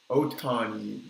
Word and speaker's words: Ohtani: First, we'll start with from the Angels, Otani. That's how you say his name, right? Shohei Ohtani.